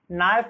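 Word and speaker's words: knife: नाइफ means आपका चाकू होता है, चाकू में आपका के को साइलेंट रखा गया है।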